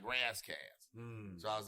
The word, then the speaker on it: Ras Kass: But then the flip side is that I'm an LA nigga, and we would pronounce it Raz, like Razzcast.